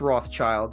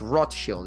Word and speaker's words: Rothschild: It's not pronounced Rothschild. It's rot shield. It means red shield in German.